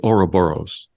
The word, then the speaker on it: Ouroboros: I believe it's pronounced the Ouroboros.